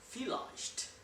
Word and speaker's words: vielleicht: लेकिन जर्मन में जो V है इसको प्रोनाउंस किया जाता है F. So that's why we say vielleicht. Okay? So maybe, vielleicht, right?